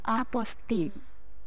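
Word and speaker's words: apostille: bahasa Perancis Mbak Eka penulisannya apus tile tapi dibacanya aposting ya dibacanya Jadi kalau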